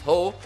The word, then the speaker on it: Heo: Our South Korean Heo, whose name is apparently pronounced as Ho, would level it.